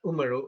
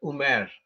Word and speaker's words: Umar: Yeah, they will pronounce that word Umaru as Umer. Yes, or Umar.